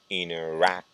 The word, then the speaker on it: interaction: And when you have the magneto suffixes, the stress goes on the syllable that is next to it. So the stress goes in interaction.